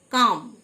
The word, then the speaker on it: calm: কাম, CALM, এল silent, কাম, মানে শান্ত।